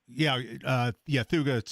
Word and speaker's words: thuja: Pat, I have some green giant thujas. I think I'm saying that right. Is that how you pronounce that? Thuga.